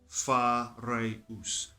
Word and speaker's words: Phareus: Phareus. It wasn't Phareus, it was Phareus. And in this lifetime, in this avatar, I've chosen to take on this name again, Phareus. I say it like that, and no one can,